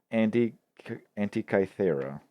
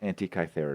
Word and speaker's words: Antikythera: It was discovered had this one device called, and forgive me, I mispronounced this, the Antikythera device. I believe that's how it's called. Antikythera device.